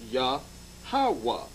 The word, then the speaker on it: Yahawah: syllable breakup the tetragram the y the h and the w and h is pronounced ya hawa now we're going to